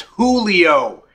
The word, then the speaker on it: Julio: For the last time, it's Julio.